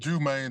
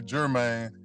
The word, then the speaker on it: Jumaine: introduction man uh yeah it's pronounced jman so many people call me German you know I just